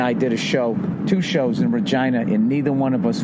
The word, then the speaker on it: Regina: did two shows in Regina, and neither one of us went with the easy joke. Nobody did the stupid, it rhymes with fun. Nobody's like, Regina, vagina, what's up with that?